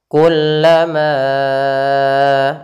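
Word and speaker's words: كُلَّمَا: Kullama, seperti itu kita bacanya. Panjangkan dulu ma-nya baru ke u.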